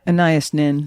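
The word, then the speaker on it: Anaïs Nin: Now, I don't know how to pronounce that name properly. Do you? Oh, Annayia Annias Nin.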